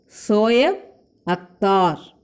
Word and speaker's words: Shoaib Akhtar: How do you pronounce? Shoaib Akhtar.